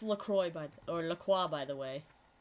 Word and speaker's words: LaCroix: quality I was doing so good - that's pronounced Lacroix by Lacroix by the way inter quad liqui